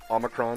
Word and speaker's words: omicron: things are with um i'm gonna mess it up omicron did i say that right omicron yeah you said it right all right anyway variant